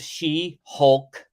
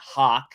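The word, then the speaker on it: She-Hulk: the latest episodes of She Hulk I'm going to say it right this time she Hulk not Hawk like it's a hot Flying Like a Bird She Hulk I'm gonna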